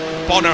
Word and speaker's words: Bono: say your name and he eventually said it's Bono house wow yeah well yes I mean we